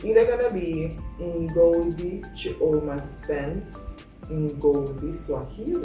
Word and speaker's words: Ngozi: So it's spelled Ngozi, but it's not pronounced Ngozi, it's pronounced Ngozi.